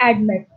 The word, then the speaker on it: admit: last level like here you can uh like pronounce with me admit so admit is extended on the last table